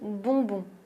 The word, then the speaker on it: bonbon: Le prochain mot est assez rigolo et très bien si tu veux t'entraîner à prononcer le son on, voyelle nasale on, c'est le mot bonbon.